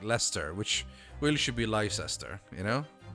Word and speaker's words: Leicester: But I mean, there's already a couple of words like Leicester, which really should be Leicester, you know? Because that's how it's spelled.